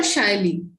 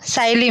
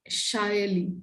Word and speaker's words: Saili: Is your name Saili or Shaili? No, Saili, ma'am. Saili. Saili. Okay, okay. In West Bengal, we say Shaili.